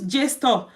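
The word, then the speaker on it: JSTOR: also you can use J store J store is spelled j s t o r store or you can also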